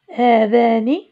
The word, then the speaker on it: هذان: اذن هذان هذا ايضا تحذف الالف تنطق ولا تكتب هاتان هاتان هاتان فتاتان